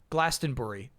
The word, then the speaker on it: Glastonbury: When saying Glastonberry, say Bur like Bur Buri. Glastenbury.